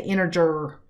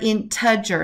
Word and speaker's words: integer: i've heard people say integer you know with a too many r's in there integer not integer don't attempt to assign